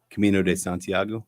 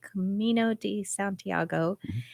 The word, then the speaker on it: Camino de Santiago: Pilgrim routes known as the how do you pronounce that Camino de Santiago Camino de Santiago came together at the tomb of which of